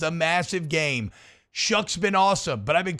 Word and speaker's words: Shough: you into believing that your last name is Shuck when it's spelled SHOUGH?